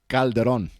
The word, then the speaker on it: Calderon: oh i know that this is mexican calderon yeah calderon the right pronunciation is calderon calderon yeah yeah you